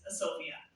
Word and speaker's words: Sophia: And so I've always been told to say this, Sophia. Is that correct? Yes. Yeah.